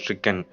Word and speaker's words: stricken: grief stricken அப்படின்னா இது ஸ்ட்ரைக்கன்னு சொல்லக்கூடாது. You have to pronounce it அஸ் stricken.